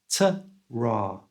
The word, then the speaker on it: ta-ra: The first A is a schwa sound, so it's t, and the second A is R. That sound's made with the tongue flat in the mouth, so it's ta-ra.